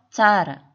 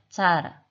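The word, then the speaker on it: tsara: 그 다음 네 번째 TS 예를 들어 짜라 완전 차도 아니고 우리나라 발음의 짜도 아닌 중간 정도라고 생각하면 되는데요. 짜라 그 다음 다섯 번째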